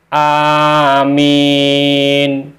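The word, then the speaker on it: آمين: lima macam bacaan Yaitu satu Amin yaitu dengan membaca panjang hamzahnya dan tidak mensidahkan atau mentasjidkan mimnya serta memenya dibaca Panjang jadi hamzahnya panjang mimnya panjang tidak ada tasnya bacaannya Amin yang kedua di dalam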